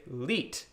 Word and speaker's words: Lied: If it was the opposite, L-I-E-D, you'd say leet. Okay, so one of those, leet, means song, right?